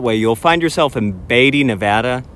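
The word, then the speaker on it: Beatty: keep going that way you'll find yourself in batty Nevada it's pronounced batty I spend a lot of time in batty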